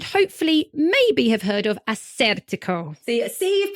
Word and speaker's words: Assyrtiko: maybe have heard of Assyrtiko. See, you've pronounced it so beautifully. I actually used to say it wrong. I used to say Assyrtiko and then got told off. And now I say Assyrtiko.